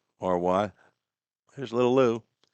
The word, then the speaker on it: Maury: He did tell me that his high school is not pronounced Murray like we pronounce Murray County, Maury.